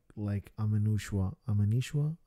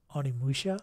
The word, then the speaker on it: Onimusha: Because it looks so much like Amanushua. Shit, am I pronouncing it right? You know what I'm talking about? Onimusha?